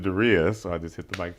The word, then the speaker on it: Darius: call me darus uh most people pronounce eight billion people on the planet pronounce it Darius exactly only I pronounce it darias I just hit the